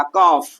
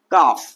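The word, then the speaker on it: calf: एफ से पहले भी जब एल आता है तब भी वहां पे एल क्या होता है? साइलेंट होता है। तो क्या हो जाएगा? काफ। क्या हो जाएगा? काफ।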